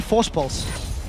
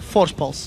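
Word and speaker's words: Voorspoels: to pronounce his surname, just say Force Pulse. Say it like you would say Cassing with a bit of a lisp. With his E. So it's Mitch, Crepo, Force Pulse.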